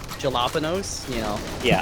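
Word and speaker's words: jalapeño: It's like I call jalapenos, you know. Yeah. Like I'll actually say jalapeno even. Are you actually kidding me with this bullshit, though? It's also a vagina. Oh, Ricky, the J is silent.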